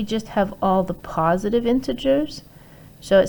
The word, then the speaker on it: integers: them the integers and this g is pronounced j is in jason okay into jurors not gurs j j into gers integers so here i have